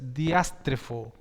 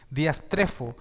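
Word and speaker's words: diastrephō: griega de perverso es diastre foo diastre foo perdón porque es con un acento en la e diast trefo y significa escuchen di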